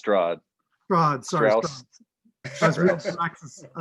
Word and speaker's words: Strahd: We also like to mention that we killed Strax and rescued Barovia. You killed who? I think it's pronounced Strahd.